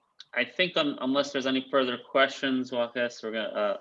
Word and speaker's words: Waqaas: I think unless there's any further questions, Waqaas, we're gonna. How do you say your name, by the way? Waqaas, like a K. Waqaas.